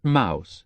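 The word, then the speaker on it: Maus: it's the home of Robert Mouse the attorney m a u s but he uses the German pronunciation he's a superb cook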